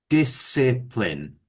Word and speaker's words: discipline: Yes, but we need to pronounce it this way. Discipline. So it's a soft I each time.